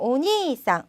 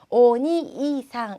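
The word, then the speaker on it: お兄さん: 그다음 오니상, 오니상 이 길게 오니상 이렇게 발음해 주시고요. 오니이상 이렇게 한 글자씩 떨어뜨려서 발음하지 않도록 유의해 주시기 바랍니다.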